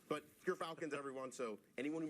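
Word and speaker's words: Gyrfalcon's: We actually, off screen, we're figuring out how it's pronounced. But Gerfalcons, everyone.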